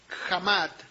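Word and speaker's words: חמד: La palabra codiciable en el hebreo es jamat, que es con K, J-A-M-A, y acento en la A y D, jamat, que significa desear, codiciar,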